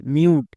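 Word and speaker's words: mute: কি হয় টো তাহলে মিউ প্লাস টো মিউট শেষের ই সাইলেন্ট তাহলে এর উচ্চারণ দাঁড়ালো এম ইউ টি ই মিউট এরকম করে যদি আমরা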